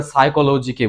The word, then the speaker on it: সাইকোলজি: ক্ষেত্রেটা পি আসবে শুরুতেই যেমন আমরা সাইকোলজিকে বলি সাইকোলজি শুরু পি আসবে যদিও শুরুতে পিটা সাইলেন্ট থাকে অনুচ্ছারিত থাকে এসএস ক্ষেত্রে